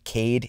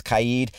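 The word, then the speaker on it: Kaid: mean for the pronunciation it is not Kaede it is kayid it is a lot of people are applying an American pronunciation to a Moroccan name but on the live stream for the presentation you can hear most of the developers do actually use the kayid Arcade pronunciation but none of them say it is Kade now his weapons will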